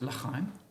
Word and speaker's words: Chaim: It's sometimes pronounced Chaim, but Chaim is generally more digestible.